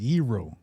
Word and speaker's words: gyro: On a side note, I just found out that it's pronounced yro.